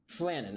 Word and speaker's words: Flannan: wrong I don't care pronounce this f-l-a-n-n-a-n that's not what I was asking announce it correctly flannon okay I was right it's also apparently in